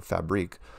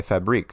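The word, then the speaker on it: Fabrik: This one's called Nice Music Track by Fabric or Fabrique. Also have a question. Hi, Mark. I just want to compliment you on your new video, Flat Earth License Plate. What an awesome soundtrack by Fabrique.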